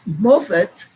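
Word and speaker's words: מופת: one five nine four one five nine is mofet and morphet is spelled m o p h e t h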